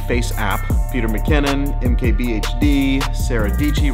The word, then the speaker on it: Dietschy: Peter McKinnon, MKBHD, Sarah Deechee, rhymes with Peachy, and Casey Neistat looks super old.